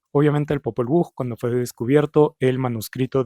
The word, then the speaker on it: Popol Vuh: son el español, pues la H en el español no tiene sonido, entonces esto se pronunciaría Popol Vuh y ya. Entonces, pues en otros idiomas la H sí tendría el sonido de la J, entonces ahí sí sería Popol Vuh. Entonces básicamente Sam Kolob prefiere W-U-J porque representa mejor el sonido.